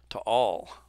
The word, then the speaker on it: Taal: island long-term deflation of tall Caldera to all you pronounce both A's uh not not allowed